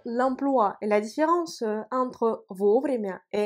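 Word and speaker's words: вовремя: et la différence entre vos vrais qui s'écrit ensemble l'accent tonique frappe la première voyez le haut vous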